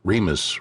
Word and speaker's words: Remus: The fact that Remus rhymes with penis was an endless source of amusement for my friends and me.